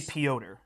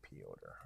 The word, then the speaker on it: Piotr: I say Piotr. Okay, Piotr. I think it's like a Russian version of Peter. Right. I always thought it was more like Pietro or something, but looking at it spelled makes me think differently.